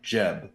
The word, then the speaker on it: Jeb: My name is IV, but I go by Jeb, my monogram for short. Spelled like the Egyptian god of the earth, pronounced like the guy who made Minecraft.